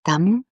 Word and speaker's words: Tam: And when she reaches your heart chakra, you can pronounce her bija mantra, which is Tam, and you manifest as Redata.